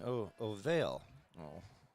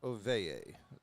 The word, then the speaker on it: Oveye: I was pronouncing Ovale all year, and got for this tournament they provide a little press packet with pronunciations. So I found out I've been saying his name as Smith is there and gets out 3. So I've been informed it's Jacob Oveye, that pronunciation.